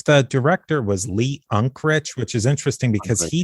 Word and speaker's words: Unkrich: How do you pronounce his last name? It's the director was Lee Unkrich, which is interesting because he directed Monsters, Inc.,